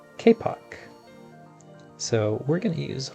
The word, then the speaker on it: kapok: I did look this up and it is not pronounced kapok. It is properly pronounced kpock.